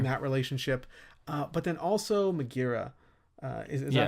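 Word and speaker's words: Megaera: So I'm building that relationship, but then also Megira, is that how you say her name? Yeah, Megira.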